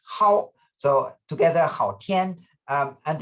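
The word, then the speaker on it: 昊: It's pronounced Hao, so together Hao Tian, and it means majestic sky, majestic heaven.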